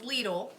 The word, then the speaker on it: Lidl: I found out because it's actually a German company then it's pronounced Lidl and so we're probably